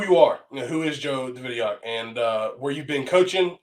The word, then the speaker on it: Davidyock: It's Davidyock, Mm-hmm. correct? Got Yep. it. Awesome. So it's Joe Davidyock, and so I'm glad I've been saying it right to everybody, but I've been talking.